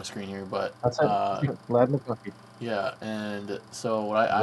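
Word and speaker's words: Ladd McConkey: Lad McConkey.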